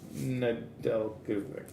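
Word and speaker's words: Nedeljkovic: a rookie retrospective of nadek i can't i never say his name right alex nadel the silent j got a young guns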